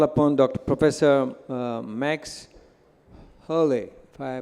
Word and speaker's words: Haerle: professor max Haleh I pronounced it right perfect yeah he will tell